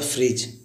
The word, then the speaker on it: fridge: यहाँ पे जी से पहले देखिए डी आया हुआ है, देन हम उसको पढ़ेंगे डी साइलेंट होता है। जैसे एक होता है फ्रिज, FRIDGE, फ्रिज।